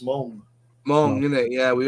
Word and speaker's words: Meng: It's like Meng. You know Meng, the Chinese company, that's properly pronounced Mong.